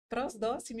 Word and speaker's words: Prosdocimi: E também apresentar o Rafael Prosdóximo, eu ia perguntar antes, esqueci, pronunciei certo?